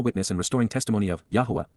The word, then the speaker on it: Yahowah: For how long, Adma, until when will the eternal witness and restoring testimony of Yahwa, Yahwa, the proper pronunciation of the name of Aloah, God, as